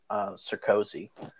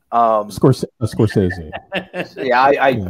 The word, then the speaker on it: Scorsese: It's why in that whole Marvel versus, I always say his name wrong, Sarkozy. Scorsese. I never say it right.